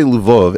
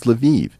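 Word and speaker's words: Lviv: way if I say luvov everyone's gonna correct me and say no no Eric it's leviv it's like no these spit these cities all have multiple pronunciations I I always thought of lavov was a Polish City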